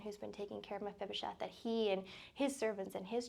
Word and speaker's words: Mephibosheth: No, I have heard that story before, and it's just a reminder that, how do you pronounce his name again? Mephibosheth.